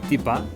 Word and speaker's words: tipá: Tipa es tetera, británico, teapot, llanito, tipa. Es decir, han cogido esta palabra británica y le han puesto la pronunciación andaluza.